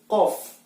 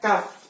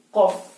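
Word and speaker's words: ق: dia ada titik 2, maka kita sebut kof. Nah, bukannya kaf, tapi kof. Sedangkan kalau bentuknya seperti ini, kita sebut kaf. Hati-hati dalam penyebutan kof sama kaf.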